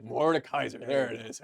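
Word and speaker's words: Mordekaiser: Mor Ken morn kaisen yeah how do you pronounce it Mor Kaiser Mor Kaiser there it is H he's here yeah we're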